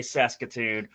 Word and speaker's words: Saskatoon: I'm always so scared to say Saskatoon, or that's actually how you say it.